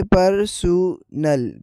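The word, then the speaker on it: personnel: जैसे कि आप देख सकते हैं उर्दू साउंड में पहले नंबर पर है पर्सनल। पर दूसरे नंबर पर है परसल। परसल फर्क वोवेल और स्ट्रेस में है।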